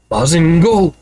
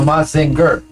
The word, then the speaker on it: Mazinger: Mazingo. Mazingo. No, Mazinger. Pronounce trait. Learn to read.